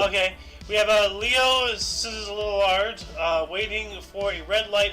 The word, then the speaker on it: Szilard: Szilard. I just wanted to hear you say it. I don't know how to pronounce those two letters.